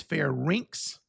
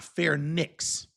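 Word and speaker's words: pharynx: And by the way, it's fair rinks. Wait, fair rinks. It's not fair nicks. Okay, don't pronounce it fair nicks. It's fair rinks. Larx. Okay, so you want to put pronounce it like rinse. RS like a skating rink.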